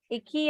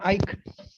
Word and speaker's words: Ike: Iki, I saw you. I think I'm pronouncing your name in the right way. Iki, that's the right way? No, ma'am. Ike. Ike.